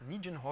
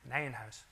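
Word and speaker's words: Nijenhuis: word on pronunciation so I often hear this pronounced as Nan ho or something like that okay so I think Albert nanh house was a Dutch mathematician so it's called Nan house um okay so uh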